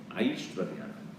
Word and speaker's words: Aishwarya: I feel like Aishwarya Rai or what are you saying? Because the pronunciation is what? I first. Then Shwar. Aishwarya.